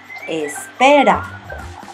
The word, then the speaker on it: espera: The E in the beginning is pronounced E. Espera.